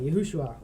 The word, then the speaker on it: Yeshua: So it's Yeshua, Yahushua, or how people like to pronounce it. Yeah, I would say Yeshua. Yeah. Yeshua. Yeah. But everybody pronounces it different because we're from different places.